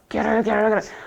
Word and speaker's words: garrulous: 발음이 garrulous. 말을 많이 하잖아요. 그러면 옆에서 멀리서 들으면 저 사람 말하는 게 우리는 뭐 쪼갈쪼갈 뭐 이렇게 말하지만 여기서 게럴 이렇게 들리나 봐요.